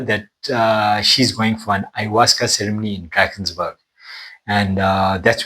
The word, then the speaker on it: ayahuasca: all the different types, but I have tried ayahuasca. It's pronounced ayahuasca.